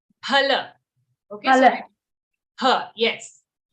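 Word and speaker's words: फल: But in Hindi it is given as fa only, no? But why? No, in Hindi we say it as fa, but we have to, it's actually in Sanskrit, we have to pronounce it as pha.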